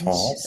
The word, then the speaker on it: Portance: So it's French. It's actually French. portance. Okay. Oh, Portance. Okay, okay. I don't speak French, so now I'll know how to pronounce.